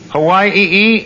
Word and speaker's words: Hawaii: Hawaii e uh that's the uh Polynesian pronunciation you know the E is always pronounced twice I see E yes